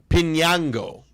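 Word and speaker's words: Piñango: Pinango. All right. Gotcha. Willie be saying the first N has an E and E over the top which means N is pronounced nay or knee.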